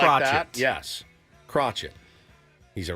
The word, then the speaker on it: Crochet: Your name's Crochet. It's spelled Crochet. That's how we're going to Kind of like pronounce Bob Cratchit from A Christmas Carol. Kind of like Crotchet.